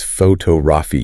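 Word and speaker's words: photography: So instead of saying PHO2GRAPHY, distinct and equal. It's photo-rafi. You hear the beat. Da, da, da, da. Photo-G-Rafi. Precisely. If you miss the stress, you miss the word.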